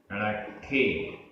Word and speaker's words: रट्ठे: रट्ठे रट्ठे आधा ट ठ। रट्ठे।